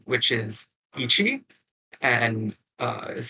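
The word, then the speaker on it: 一: Then the next number is 1, which is Ichi, and is how you pronounce it in Japanese.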